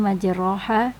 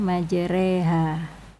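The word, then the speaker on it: مجراها: tulisannya majroha tapi kita baca majreha.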